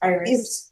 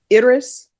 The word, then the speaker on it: Iris: It's Iris. Iris? Iris in Spanish, but it's Iris.